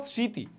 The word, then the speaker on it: স্মৃতি: পরবর্তী কখনো কখনো ম অনুচ্চারিত থাকবে, যেমন স্মৃতি, দেখো স্মৃতি উচ্চারণে কিন্তু ম উচ্চারণ আসতেছে না, ঠিক আছে।